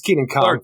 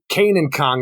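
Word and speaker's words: Kenan Kong: Pretty sure it's Keenan Kong how everybody says it. Or Kanan. Kanan Kong, exactly.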